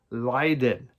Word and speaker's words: Lydon: Then Johnny Lydon.